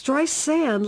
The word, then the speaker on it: Streisand: It's Streisand, like sand on the beach.